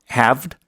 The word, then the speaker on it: halved: Halved. 네, 이렇게. 그리고 영국식으로 하면 halved가 되겠습니다. 가운데 A가 어쨌든 양쪽 발음에서 다 좀 길어요.